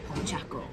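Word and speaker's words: Pochacco: Pochaco.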